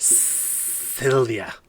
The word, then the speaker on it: Sylvia: No, it's pronounced Sylvia.